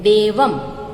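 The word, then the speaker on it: देवं: तो ये जो डॉट है वो है अनुस्वार। ओके, जिसको म कहते हैं हम। किस तरह से? तो देवम नमामि, तो इसको हम म बोलते हैं, देवम।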